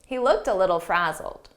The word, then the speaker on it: frazzled: Frazzled, here it's a past simple ed verb, but the pronunciation is a very soft D, and you almost don't hear it.